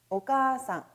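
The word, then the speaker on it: お母さん: 어머니 를 부 를 때 는 " 오카 상 " 이라 고 합니다 . 암기 요령 : " 오 -" 와 "- 산 " 이 붙는 한자는 항상 장모음 으로 발음 된다는 것 을 기억 하세요 .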